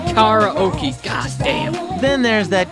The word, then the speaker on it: karaoke: it right karaoke there it's karaoke not karaoke god damn then there's